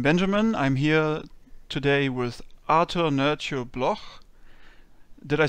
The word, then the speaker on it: Artur: little bit sharp, I guess, but might be a little bit hard for some people to pronounce. I think it's all right, though. My name is Artur. Artur.